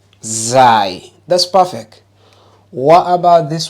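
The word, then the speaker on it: ز: got wrong don't cheat which letter is that without your tongue remember Z that's perfect what about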